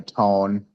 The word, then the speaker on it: Tone: How do you say your last name? It's uh Tone.